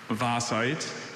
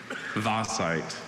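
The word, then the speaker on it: vaesite: Vasite. really unusual vowel combination for that sound in the English language.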